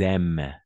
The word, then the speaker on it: aiment: ENT à la fin, on ne prononce pas.